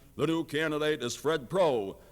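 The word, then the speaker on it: Preaus: The new candidate is Fred Pro, whose name rhymes with moose."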